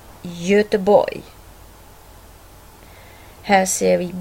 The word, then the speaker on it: Göteborg: G står framför mjuka vokalen Ö, alltså Göteborg.